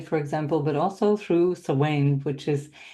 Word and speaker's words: Samhain: example, but also through Samhain, which is, or Samhain, depending how you say it, which is one of the cross-quarter days.